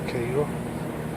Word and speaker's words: Cairo: Spelled Cairo but pronounced Cairo.